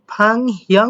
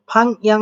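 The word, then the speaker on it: 방향: ফাং হিয়াং উচ্চারণ করতে পারেন, আবার হিউটাকে সাইলেন্ট রেখে ফাং ইয়াং উচ্চারণ করতে পারেন।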